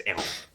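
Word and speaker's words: Héron: No, Hieronymus is his first name, and Eron is his last name, and it's pronounced technically it's Eron.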